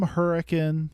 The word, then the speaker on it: Hurricane: you know he's from Hurricane you have to say it like Hurrican or people get mad at you um he knows the